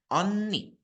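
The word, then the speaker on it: 언니: di sini ada onni tulisannya memang eon ni tapi robun harus bacanya onni lihat mulut sem onni onni ya Jadi kalau yang tadi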